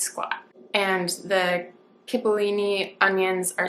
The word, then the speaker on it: cipollini: This onion I'd never heard of, and I might be saying it wrong, cipollini, and it literally means little onion in Italian.